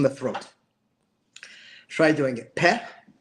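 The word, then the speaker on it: פ: The first phonetic family defined by the Sefer Yetzirah, which is the first letter Peh, is pronounced with the lips.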